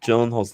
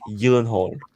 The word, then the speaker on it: Gyllenhaal: funny enough is that we've also been saying jake gyllenhaal's name wrong it's jake gyllenhaal what what oh because it's it's swedish or something ki gohan if you